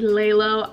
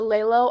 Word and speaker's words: LELO: be talking about the lay low idea way and girl all right girls it is actually pronounced the Layla Ida wave if you're looking for